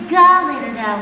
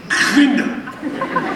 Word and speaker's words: Galinda: It's Galinda with a G. Yes, of course. Glinda.